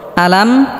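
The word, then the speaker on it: أَلَمْ: আলাম সম্মানিত দর্শক শ্রোতা এখানে লক্ষ্য করুন আলাম হামজা স্পষ্ট করতে হবে আলাম আলাম তার আমরা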